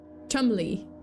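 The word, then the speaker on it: Cholmondeley: name uh David rocksavage the seventh Marquez of Chumley I yeah that's apparently how it's pronounced uh they have three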